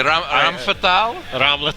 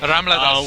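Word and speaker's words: Ramlethal: how it's spelled properly? Ramfetal? Ramletal.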